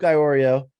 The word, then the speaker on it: Iorio: And I'm in the house today with Iorio. Did I pronounce that right?